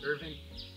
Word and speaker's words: Irvine: are in urban Kentucky spelled Irvine but you pronounce it Irving Irvin is famous for